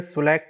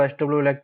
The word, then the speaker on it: Swelect: देखिए, बहुत से लोग इसको एसडब्ल्यू इलेक्ट बोलते हैं, बहुत सारे लोग इसको अलग अलग नाम से जानते हैं, लेकिन इसका सही जो प्रोनाउंसिएशन है गूगल के हिसाब से वो सुलेक्ट एनर्जी सिस्टम लिमिटेड है।